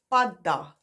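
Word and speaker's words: padda: Top left corner, we have pada, pada. If you say that faster, it's pada, and that is a frog.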